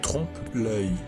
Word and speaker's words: trompe-l'œil: However, that is the term, and it is pronounced like trompe-l'œil.